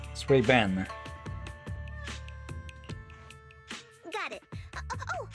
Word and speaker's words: Suibian: Okay, in this case, the second I is silent, it sounds like, huh? Sway Ben.